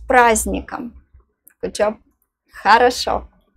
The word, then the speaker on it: праздником: The letter D is silent here. Try again. С праздником.